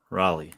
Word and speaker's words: Raleigh: eighth place male qualifier griffin raleigh like the city in north carolina thank you raleigh i